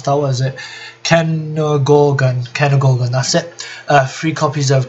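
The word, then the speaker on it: Cairngorgon: the OCG, one Deltaros, one Dark Rebellion, one Kenogoran, or however you pronounce that, what is it? Kenogorgon, that's it.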